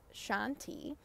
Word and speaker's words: shanti: lot of Sanskrit words the word for peace is a two syllable word shanti so you can inhale on the first syllable tion and exhale on the second syllable those are two mantras